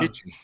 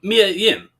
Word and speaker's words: Mia Yim: Michin. Um, it's Mia Yim.